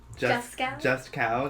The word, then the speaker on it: Juskow: Just cow.